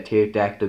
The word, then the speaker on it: pterodactyl: Yeah, pterodactyl goes to the bathroom. Because the pee is silent.